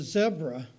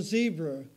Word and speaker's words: zebra: we called it a zebra down here and in the states it's called a zebra we don't we the Z is pronounced differently and when you park